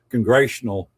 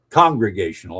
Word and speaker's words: congregational: Most of New England where where Sam lived were congressional churches, congregational I guess is the the proper pronunciation.